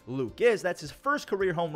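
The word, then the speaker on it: Lukes: RBI double Nathan Luke's well at least it's spelled Luke's it's actually Luke is that's his first career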